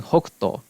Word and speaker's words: Hokuto: and the Cantonese pronunciation, the Japanese being Hokuto. If you split that by character, the first character is Hoku, and the second character is To.